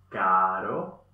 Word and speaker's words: caro: R suave, leichter gemacht. Dasselbe, nur leichter gemacht. Caro, pero, toro.